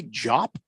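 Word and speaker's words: Diop: people I'll probably play did you say job yes okay so we pronounced the D with a j but that yeah that dude I'm the bad guy okay it's just like you say it really fast that's how you say it I Keisha Bates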